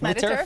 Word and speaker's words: Mediterrafish: Did I say it correctly? Yes, Mediterrafish. Like yes, Mediterranean with fish, Mediterrafish.